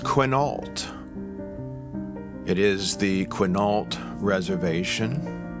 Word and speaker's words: Quinault: It's over on the west coast of Washington State, and it's pronounced Quinault.